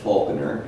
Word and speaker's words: Falconer: 2 years after Smithers, he published his novel, Falconer, as he always insisted it should be pronounced.